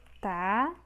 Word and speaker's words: tabu: Vamos agora a tabu. Tabu. Separamos dessa forma. Tabu. A sílaba tônica é a sílaba bu, ou seja, a última sílaba. Então, também é oxítona.